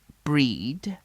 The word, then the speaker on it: Brigid: We'll follow Brigid, pronounced Breed, a keeper of flames in